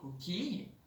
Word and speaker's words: coquilles: Donc en plus du E muet, eh bien on a un S muet.